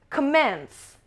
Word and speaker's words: commence: Number 4, commence، commence، commence، schwa sound، schwa sound، صدای schwa داره. Commence، to start، to begin، to start، to begin، commence، and it's a verb، شروع کردن، verb هستش. Commence stress is on the second syllable.